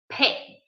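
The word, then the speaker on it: פא: So how do we say mouth in Hebrew? We say pay. And that's why it's called pay, okay? Because we use our lips to pronounce this letter.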